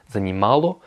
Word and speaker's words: занимало: Donc ça va être занимал, занимала, занимало, enfin занимала aussi, parce que le O se prononce comme un A, et занимали.